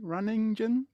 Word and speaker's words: Ronningen: biggest fear is mispronouncing that silent n on my third one is is tough for people runningen running runningen yeah I'm wondering because